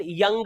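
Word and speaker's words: Jung: अच्छा अपनी पहली YouTube वीडियो में मैं इसको जंग बोल रहा था। जंग फिर उसके बाद जब बीए करीस्टर्स करी साइकोलॉजी में तब हमें समझ आया कि भाई अच्छा नहीं भाई जंग नहीं काल यंग होता है।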